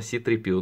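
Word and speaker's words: C-3PO: Не Зора читается, а Си-3PO.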